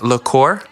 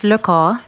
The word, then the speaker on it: Lecor: just talking off the mic that it's French, and I speak French, so I'm trying to get it as close as possible. It's Lecor. Lecor.